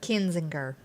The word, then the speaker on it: Kinzinger: Over the weekend, the Republican Party censored Liz Cheney and Crying Adam, how do you pronounce his name? Kinzinger.